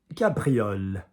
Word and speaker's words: cabriole: Cabriole. Cabriole. Doesn't really go too wrong in the pronunciation.